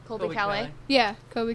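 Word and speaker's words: Caillat: Colby Calais. Yeah, Colby Kelly.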